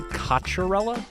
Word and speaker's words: Cocchiarella: So we say kacharella like I don't know why I don't know what led us to that pronunciation but that is